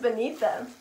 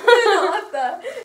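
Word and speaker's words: Beneatha: Her name's Benita. And Benita is pronounced like... Benatha? Benatha.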